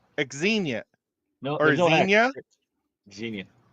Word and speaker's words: Xenia: Just Zena. Oh, I was right. Xenia or Zena Xenia. Just like Zena Warrior Princess.